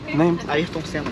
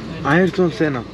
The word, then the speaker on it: Ayrton Senna: Ayrton Senna. Ayrton Senna.